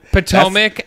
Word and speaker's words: Potomac: say it potomac potomac okay mary thank you potomac that's the one that's the one i see